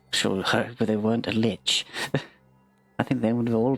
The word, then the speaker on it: lich: undead look toward it lick I never asked one never met one uh there have I I've always pronounced Lich give it that Soft C as opposed to the hard C if we're done investigating